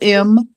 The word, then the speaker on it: Ummah: You how do I pronounce it? Ma Who are you talking? Umam Who are you talking about? Ummah.